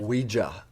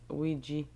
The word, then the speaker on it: Ouija: I still see I don't know why in America it's Ouija. Yeah. There's an A at the end. And you also say why, it's like French and German, so we and ya.